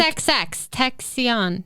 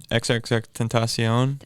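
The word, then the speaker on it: XXXTentacion: XXX Texion. Oh. Tentacion. Do you know who that is? No, but Yeah. maybe that's why. Yeah. How do you pronounce that? XXX Tentacion.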